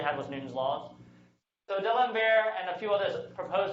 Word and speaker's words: D'Alembert: D'Alembert? D'Alembert.